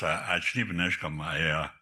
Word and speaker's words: Ashnibanishkam: And I've traveled across the country and heard my name pronounced in many ways. That's not bad. And yeah, and it's Ashnibanishkam.